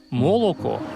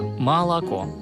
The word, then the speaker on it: молоко: Мы перестаем произносить все гласные звуки четко. Не «молоко», а «молоко».